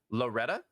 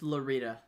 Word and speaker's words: Loretta: for your loss also i bet you pronounce my name wrong everyone does loretta it's lorita lorita oh lorita not that